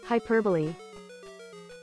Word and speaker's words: hyperbole: a Google search alright hyperbole what hyperbole hyperbole hyperbola hyperbole hyperbole but why all right English that's a key change why is hyperbole pronounced so differently from its spelling hyperbole comes from the